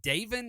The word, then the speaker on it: Davin: And is it Davin? Is that how you say it? David Hobbs, Hobbs. Davin. Yeah, Davin Hobbs, 3 tackles.